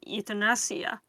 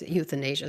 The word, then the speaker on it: euthanasia: how she sees it is she's giving an ethnonia or how is it pronounced? Yeah, exactly. That's what I just wanted to say that she always refers to this as uh as euthanasia.